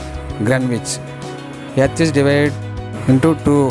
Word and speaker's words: Greenwich: Spelling is green, but you must spell or pronounce Greenwich.